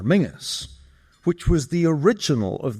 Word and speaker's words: Menzies: Menses in fact preferred his surname to be pronounced in the traditional Scottish manner Mingus which was the original of the nickname Ming the Merciless.